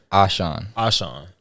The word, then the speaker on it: A'sean: do this to me i've been pronouncing your name wrong for a cool like three years so everybody dude so it's ashan everybody say my name